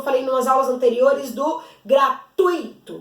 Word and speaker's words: gratuito: nos aulas anteriores do gratuito gratuito gratuito não é separado que o hiato o iago separado de toda junto então é gratuito se pronuncia ele junto eu tô falando de